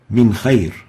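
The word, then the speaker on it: من خير: Next, Min Khayr. Nun Sakinah followed by a Kha, pronounced Min Khayr.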